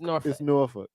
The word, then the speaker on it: Newark: from No She from nor hey look excuse me let me rephrase that for those folks outside of the state Newark we say we say nor he don't even he